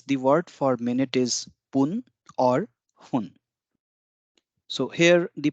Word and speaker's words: fun: word for minute is poon or hun so here the pronunciation one has to be careful it is not fun and neither nor it's something between fun and hon so it's hun so if it's actually